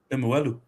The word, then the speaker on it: Lemuelu: And the Dolphins have extended Connolly Lemulu. I get his name wrong all the time. Lemuelu.